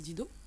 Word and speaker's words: D2EDO: Ça s'écrit D2EDO, mais c'est un détournement orthographique en fait de deux mots anglais, deed et do.